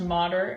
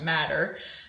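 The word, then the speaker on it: mater: and that is pronounced modder um it's Latin for strong mother so it's not pronounced matter and that is the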